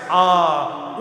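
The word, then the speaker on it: Aum: And the sound attached to the life force is A-U-Ma. A-U-M. The Ma is not the mouth closes as we pronounce Ma.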